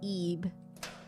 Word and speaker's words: Ib: Our character is pronounced E.